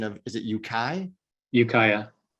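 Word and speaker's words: Ukiah: brian or steve who wants to throw a pronunciation of is it yukai ukaya ukaya okay i always get that wrong so it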